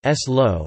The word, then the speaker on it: Salou: Salou (Catalan pronunciation: S-lo) is a municipality of the comarca of Tarragonès, in the province of Tarragona, in Catalonia, Spain.